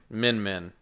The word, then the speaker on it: Min Min: Min Min. Min Min? That's not hard to say. Certainly not spelled like, Is it like Min, M-I-N, or M-E-N?